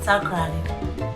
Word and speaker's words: Takoradi: form takrasi which then became takras a local pronunciation and later before eating honey the British and the panties made it takoradi which has remained the official name so today